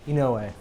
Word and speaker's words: Inouye: Inouye. You got to spell that.